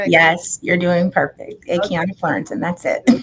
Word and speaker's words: Akiana Fleurantin: Good afternoon, Akana Florentin. How are you? Good afternoon. Hi, Denise. Am I pronouncing your name correctly? Yes, you're doing perfect. Aiana Florence.